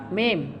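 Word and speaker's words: ميم: karena ada yang mengatakan ini mak, katanya salah. Ya. Sebelum ada patah nggak boleh sebut mak, ini harus mim.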